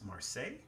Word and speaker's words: Marseille: i believe they had mars marseille yeah is that the right way to say that marseille yeah and um man